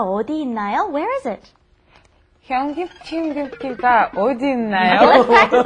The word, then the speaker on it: 현금지급기: 현금지급기가 어디 있나요? Okay, let's practice that pronunciation before we pass.